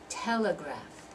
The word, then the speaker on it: telegraph: there three syllable words the stress and all of those is going to be on the first syllable so they're going to have that sound uh so um so we're going to do photograph photograph Telegraph Democrats diplomat politics personal competent